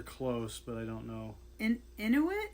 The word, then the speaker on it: Inuit: Inuit? Inuit, yeah.